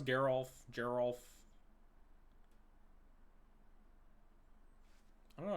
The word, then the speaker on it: Geralf: rosewater tumbler let's go just say a hard G and Geral is a soft one what that's so annoying